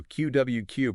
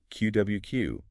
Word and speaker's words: QwQ: I got to say the name itself, you know, QWQ pronounced like quill.